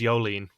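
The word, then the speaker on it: Jolien: is Jolene ru we it's Jolene now it's your lien as is how they pronounced it in this reunion and I was very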